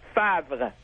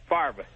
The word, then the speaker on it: Favre: To pronounce Favre, it's called Favre. That's how you pronounce it. In French, it's Favre, not Favre.